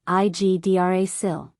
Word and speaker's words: Yggdrasil: Yggdrasil, Igdrasil. The World Tree. Key to pronunciation.